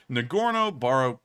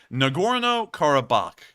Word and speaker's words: Nagorno-Karabakh: incredibly odd it's called nagorno Baro um let me make sure I actually get that pronunciation correct nagorno karabakh and nagorno-karabakh is entirely within